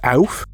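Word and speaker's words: Ouphe: I know it's supposed to be pronounced Alf, but I really like it being pronounced Ooh.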